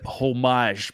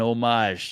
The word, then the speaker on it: homage: it it's it's an homage man it's an homage that's what it is I appreciate it yeah we pronounced the H on omage like a proper American game yeah you know I